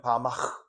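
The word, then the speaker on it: במה: 히브리어로 바 정확히는 바마 이렇게 해야 되는데 뭐 이스라엘 사람처럼 발음하기 어렵고 그냥 바음 바은 뭐냐면 아주 간단해요.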